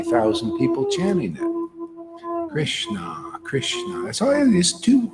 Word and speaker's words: Krishna: people chatting them Krishna Krishna that's all these two this is Krishna that's it two syllables for God's sakes anybody can do this